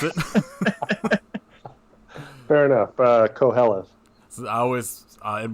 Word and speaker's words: Qoheleth: it out loud and don't know how to pronounce it fair enough uh co hellas so i always uh in my head it's quelleth yeah and yeah they are releasing a soundtrack